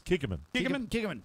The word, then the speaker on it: Kikkoman: And he has And pronounce it correctly, please. It's Kikkoman. Kikkoman.